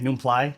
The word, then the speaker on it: Nublai: My name is Nublai. Hmong pronunciation, Nublai. So yeah, yes, just like the story.